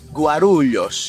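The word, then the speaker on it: Guarulhos: Guarulios Guarulios Éditeur Guarulios Gurulios est la prononciation correcte Le vol est géographiquement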